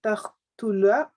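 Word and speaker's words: تقتلوا: iyaka, an taqtula, Taqtula. Donc, le qaf, an taqtula. voilà, pour bien le prononcer quand il a un soukoun, on l'isole. Ta-qtu. Au lieu de dire taqtu, taqtu.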